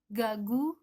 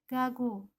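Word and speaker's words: 가구: huruf ini namanya giok pengucapannya dalam alfabet antara huruf g dan huruf k contohnya pada kata gagu yang artinya mebel Saya tidak membacanya dengan huruf g gagu ataupun huruf k kaku namun pengucapannya di antara huruf g dan huruf k gagu kalau kita gabungkan dengan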